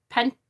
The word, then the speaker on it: pentacles: we're back to pentacles pentacles needs to be pronounced like hercules pentacles the bird lady card